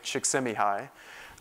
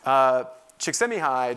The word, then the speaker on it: Csikszentmihalyi: And one of the things they discovered in this research, this great positive psychologist, Mihai Csikszentmihalyi, very challenging name to pronounce, but that's how you pronounce it. Csikszentmihalyi discovered that the state of flow is a major source of happiness for people.